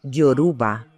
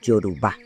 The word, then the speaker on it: yorubá: Por ejemplo, decir yoruba en lugar de yorubá.